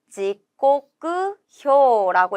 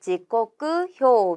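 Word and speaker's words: 時刻表: 지코쿠효라고 읽을 거예요. 지코쿠효 몇 번의 정답이 있냐면 3번의 정답이 있죠. 비슷한 발음들 헷갈리지 않게 정확한 발음으로 외워주셔야 하고요.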